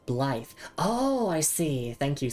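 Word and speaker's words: Blaidd: Pronounced Blythe.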